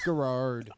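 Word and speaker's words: Garrard: Still shouldn't be how you pronounce it. There's another R in there. Sorry. y'all. Gerard. It's Gerard.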